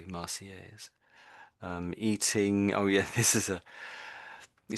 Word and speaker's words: Marseillaise: again, we're not really saying the L's, are we? Marseillaise.